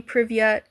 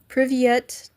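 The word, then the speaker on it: привет: I have to remember to pronounce the T.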